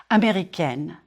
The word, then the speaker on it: américaine: If you are a woman, je suis américaine, américaine. Américaine. Flatten your tongue on the N and close it, N. Here, try this. Say egg, and then N. Américaine.